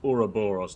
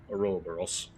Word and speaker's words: Ouroboros: Well, you've done it several times, but I think you've been mispronouncing some words here. It's Ouroboros, not Ouroboros.